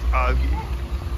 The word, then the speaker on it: algae: flamingo Pond is green because of algae that's how you pronounce that word yeah Al algae this is allowed to